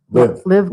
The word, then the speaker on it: LIV: have to tell me how to pronounce this, LIV Golf? Live Golf.